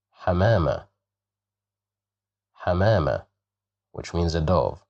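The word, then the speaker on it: حمامة: Here we have fatha. So we will pronounce it as ha, hamama, hamama, hamama, which means a dove.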